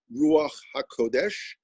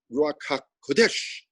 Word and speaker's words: Ruach HaKodesh: the ruach hakodesh by the way that is pronounced ruach hakodesh not rakha kodesh you know with it with an accent mark